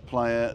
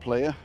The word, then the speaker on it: playa: Cristianos, and it's called Playa, not Player, for some reason. Because if the A was spelled A, then it would be Play A, wouldn't it? Right. And it's playa, because the letter A is pronounced ah.